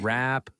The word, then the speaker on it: wrap: Notice that the W in the word wrap is not pronounced. wrap things up.